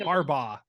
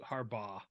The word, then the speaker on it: Harbaugh: Harbaugh. Just Harbaugh. Not Harbaugh. Bog. Bah.